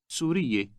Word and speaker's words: سورية: Remember that the ending ye is added to the word for Syrian to refer to females. This makes it a 3-syllable word. Say Syrian again, referring to a woman. سورية سورية How do you